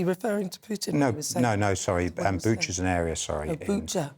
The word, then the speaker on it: Bucha: Bucha's an area, sorry. Oh, Bucha. Bucha is his pronunciation.